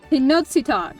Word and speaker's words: Tenochtitlan: Tenochtitlan.